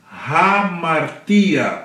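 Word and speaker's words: ἁμαρτία: angelos aqui você tem hamartia porque você tem um a com o espírito forte aqui uma aspiração forte sobre o alfa daí Rara an e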